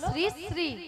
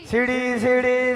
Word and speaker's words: শ্রী: আরে মাসি ওনার নাম ছিরি ছিরি নয়, বলো শ্রী শ্রী। কি? বলো শ্রী শ্রী। সিঁড়ি সিঁড়ি সিঁড়ি সিঁড়ি সিঁড়ি সিঁড়ি সিঁড়ি সিঁড়ি সিঁড়ি সিঁড়ি সিঁড়ি। আমি কি সিঁড়ি সিঁড়ি বললাম? আমি বলেছি শ্রী শ্রী। ঠিক করে উচ্চারণ করো।